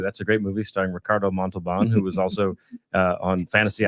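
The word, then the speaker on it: Ricardo Montalbán: That's a great movie starring Ricardo Montalban, who was also on Fantasy Island. Roll your R's on that, sir. Sorry, I'm so pale. I'm such a white dude. Ricardo Montalban.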